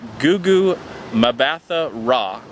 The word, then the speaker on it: Gugu Mbatha-Raw: different name the actress that plays Bell is pronounced Gugu mbatha-raw now I've never seen this actress before but